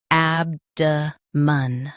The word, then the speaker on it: abdomen: Ab-duh-mun. Ab-duh-mun. Stress ab. Keep duh soft and end with a light mun.